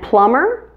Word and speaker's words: plumber: changing the pronunciation so the b is still silent in those words here's a crazy practice